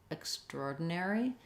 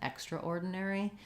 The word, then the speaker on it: extraordinary: build or roar troll extraordinary um it is typically um sounds more natural and i would say more people use that than extraordinary because the we tend to reduce that syllable of extra okay so hopefully that